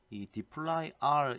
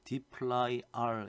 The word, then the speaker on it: dplyr: 그런 불편함을 느꼈던 사람들이 2d 플라이 r 이라고 제가 지금 딥 플라이 r 이라고 읽었는데요 d 플라이 알이 라고 하는 이 패키지를 만들었습니다 그래서